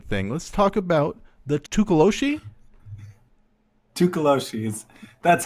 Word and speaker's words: Tokoloshe: Let's talk about the Tokoloshe. Tokoloshe's. That's how it's traditionally pronounced. And if you pronounce it any other way, I'm sorry, you probably don't know a lot about goblins. Yeah. Let's get into Tokoloshe.